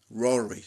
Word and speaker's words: Rotary: Ça s'appelle The Rory. Rory. C'est comme ça qu'on prononce en anglais.